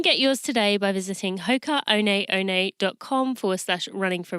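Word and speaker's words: Hoka One One: design you can get yours today by visiting Hoka Oh Nate Oh Nate calm for such running for real that's spelled H okay a oh and E o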